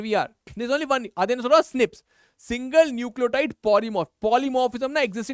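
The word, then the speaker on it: SNPs: where single base DNA differences single nucle polymorphism pronounced Snips occur in humans this imion promises to revolutionize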